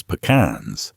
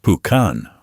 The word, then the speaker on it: pecan: Texas doesn't just grow pecans, it is pecans. The official state native tree, the pecan, pronounced pucan or pecan, depending on how long you've lived here and how ready you are to start a fight, is as Texan as barbecue and borderline speed limits.